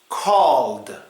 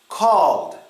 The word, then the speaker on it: called: The first one is pronounced called, called.